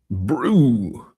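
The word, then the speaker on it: Brú: Anyway, this is the Nomadic Brew, B R U with a fada. Fada is the the accent on the U.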